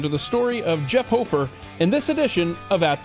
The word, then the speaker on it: Hoferer: It's spelled Hoferer, but it's pronounced Hofer.